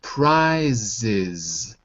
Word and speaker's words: prizes: Almost. You got to add a syllable. Add a syllable. Prizes. Prizes. That's it. That's it. So this one is the is ending.